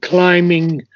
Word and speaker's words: climbing: I think climbing the B is not sounded. climbing. Okay, till climbing the summit. Yes, it's sort of Okay, a silent B there.